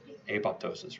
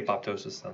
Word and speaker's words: apoptosis: guess what and triggers apoptosis right some people say you don't pronounce the second piece a PO ptosis i'd say pop ptosis better to me plus